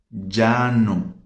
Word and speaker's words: llano: Planície, llano, dos L's, llano. Encher, português, encher, espanhol, llenar, ok? Então temos essas diferenças de pronúncia.